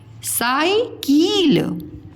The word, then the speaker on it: साइकिल: साइकिल, ये लिखा हुआ है साइकिल, साइकिल, कील नहीं होता है, किल होता है, साइकिल।